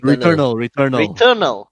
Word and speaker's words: Returnal: How do you pronounce that? Returnal? Renewal? Returnal.